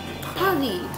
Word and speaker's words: Paris: Paris.